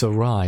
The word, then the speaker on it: Awry: I don't know why or arai it's aai isn't it I've made this mistake